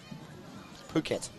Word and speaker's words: Phuket: you on holiday William peak are you in Phuket mate having a good time I hope I'm so glad you pronounced that correctly Phuket Phuket how else would you say it Barry